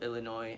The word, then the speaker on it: Illinois: How do you kind of break this down to white students who are from rural parts of Illinois? Is that how you say it, Illinois?